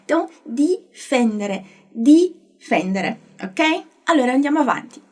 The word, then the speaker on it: difendere: Então, a pronúncia do D, quando tiver um I depois, vai ser sempre assim, di.